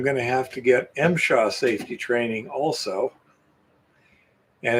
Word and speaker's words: MSHA: The acronym is pronounced MSHA.